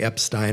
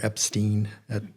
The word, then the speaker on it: Epstein: I tend to say limacodid, but it's just like you could say Epstein or Epstein with my name.